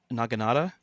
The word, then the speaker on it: Naginata: Naginata? Wow, Ian. Is that the right pronunciation?